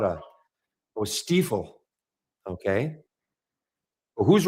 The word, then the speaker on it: Stiefel: Yeah, it is German. Okay, so Stiefel.